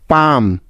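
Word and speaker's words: palm: এল কে চক next M এর আগে এল silent এর কিছু উদাহরণ যেমন কাম সি এ এল এম কাম পাম পি এল এম পাম বাম বি এল এম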